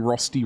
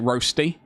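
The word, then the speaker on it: Rösti: Green beans and mustard, honey, vinegar, and some rosty rounds. Rosty. That's how I say it, by the way. I don't I don't pronounce it roasty. It's rosty.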